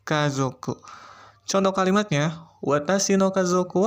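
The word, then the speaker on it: 家族: Bacanya kazoku.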